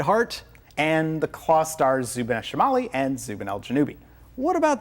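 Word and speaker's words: Zubeneschamali: you all about them the upper Claw is zuban shimali which actually means Northern claw and the lower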